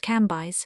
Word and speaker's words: Cambis: There were in Madame de T.'s salon some very noble ladies named Mathan ne Lavis, which was pronounced Lavy, Cambis pronounced Cambyse.